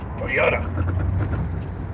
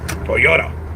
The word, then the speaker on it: Toyota: Toyota. That's the right way to say it. Toyota.